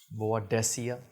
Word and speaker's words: Boadicea: perfume from the company badia the Victorious badia the Victorious so this is the actual pronunciation um so this is